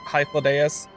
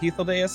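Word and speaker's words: Hythlodaeus: i'm like not processing how to pronounce hyflideus as like heathodayus or however they're actually saying it my brain's like no it's high flow uh will accompany me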